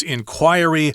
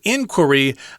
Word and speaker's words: inquiry: and then the non-forum is inquiry or inquiry you can pronounce it either way so of course the